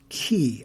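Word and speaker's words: 계: There's a Korean word, and it is pronounced ki, I believe. It is spelled K-Y-E, and it refers to a bond between Korean individuals, Korean organizations, Korean companies, Korean communities, etc., etc.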